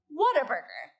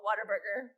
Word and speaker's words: Whataburger: here even know what whataburger is oh fantastic like two people okay it is basically the world's best fast food place it's in southern states and you can see it's pronounced what a burger as far as like